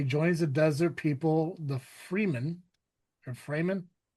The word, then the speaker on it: Fremen: He joins the desert people, the Freeman or Freeman, Most people pronounce it Fremen, Fremen. Okay. but it is. I think it is literally the free men. Like Got just one less uh, E.